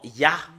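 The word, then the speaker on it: יה: Les juifs l'ont prononcé en ya. Et ce que nous voyons sur l'écran, c'est ya, comment on le prononce, c'est I-A-H.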